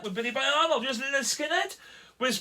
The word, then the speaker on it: Lynyrd Skynyrd: But that's pronounced Lynyrd Skynyrd.